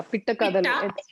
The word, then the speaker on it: Pitta Kathalu: Pitta Kathalu? Is that okay? Or have I got it wrong? It's Pitta. Yeah, Pitta Kathalu.